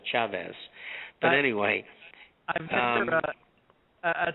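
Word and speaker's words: Chávez: Now, I should say it properly in Spanish, Chavez.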